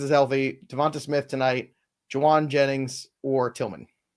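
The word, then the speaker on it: Jauan: healthy Devon Smith tonight Jawan Jennings or Tilman no one ask Jawan by the way in the chat today nobody everyone's just calling him Juan do do you do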